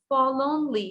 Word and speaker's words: forlornly: Forlornly, এখানে কিন্তু আর এর উচ্চারণ করব না আমরা, FOR, forlornly না, forlornly মানে হচ্ছে sadly।